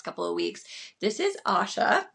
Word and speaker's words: Asya: for the next couple of weeks this is Asha correct I said that right right as yes